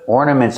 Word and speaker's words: ornament: We put lights on our tree and we put ornaments on our tree. These are ornaments. Ornaments. Use the or sound like for and more. Ornaments.